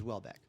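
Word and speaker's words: Houellebecq: it's from kinol lber Welbeck is spelled h o u e l l EB e CQ yeah so somehow that becomes Welbeck nice so what I'm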